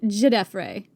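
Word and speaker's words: Djedefre: I really struggle saying it because it's not the way it's spelled, and that really throws me. Jedray. There's a There's a D at the front. A silent D.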